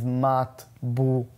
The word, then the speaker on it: matbucha: The way it's pronounced is matbucha.